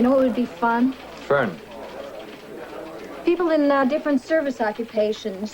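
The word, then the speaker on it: Föhn: You ever hear of the Fane Bavarian? Fern. It's pronounced Fern.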